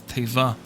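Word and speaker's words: תבה: by means of an ark in Hebrew it's pronounced the word is Tava Genesis 6:14 some may be surprised to learn that Moshe Moses was also saved from a watery death in an arc Tava in Hebrew Exodus 2 uh: 3 and 5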